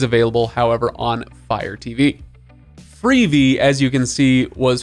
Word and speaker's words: Freevee: I don't know why they call it Freevee. I guess because it rhymes with TV, but regardless, it's a stupid name.